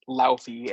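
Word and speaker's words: Laufey: of the frost giants Luffy as it's pronounced in the movie apparently eats Lukey yep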